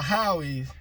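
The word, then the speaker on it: Howes: I was telling y'all Howies, but it's H-O-W-E-S, hoes. Hoes are Howies. Some pronounce it Howies.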